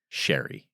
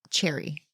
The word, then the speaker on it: Sherry: I'm surprised you didn't pronounce it cherry. Why would I pronounce it cherry? I don't know. Oh. Because to me, it looks cherry. You think it's cherry? No, I think it's sherry.